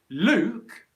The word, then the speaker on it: Luke: short u vowel sounds so luke which is a name in english luke luke luke is a long o vowel sound luke luke luke